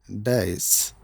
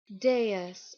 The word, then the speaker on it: dais: We pronounce this word very often as dice, but it should be pronounced as Dais or This is not debris, but Debris.